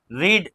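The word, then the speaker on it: read: तो यहाँ second form रीड same ही है ना, बट प्रोनाउंसिएशन डिफरेंट है। इसे हम बोलेंगे रेड। ठीक है, रीड, रेड, रीड।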